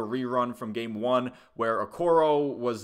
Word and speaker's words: Okoro: mispronounced that his name his name is spelled out pretty phonetically you know it's o-k-o-r-o okoro I don't know how you I don't know how you keep saying okoru his broadcast partner was